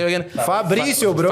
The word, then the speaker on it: Fabricio: Fabricio, bro. Fabricio.